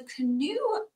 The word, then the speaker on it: CNOE: um speakers from the canoe project so if you didn't know how to say that that's how you say it Cano although they might correct